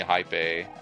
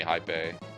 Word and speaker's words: Haipeee: And uh I was like, "Hypy sounds cool." And so I was like, "Yeah, it's pronounced hypy.